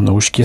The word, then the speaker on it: Naoshika: C'est marrant, Naoshika, ça se prononce comme Nausicaa d'Ulysse et de Miyazaki.